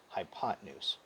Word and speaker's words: hypotenuse: That helps me spell it, hypotenuse, but I don't say it that way. I'm going to pronounce it hypotenuse, okay?